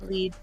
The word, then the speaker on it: Elide: Elide.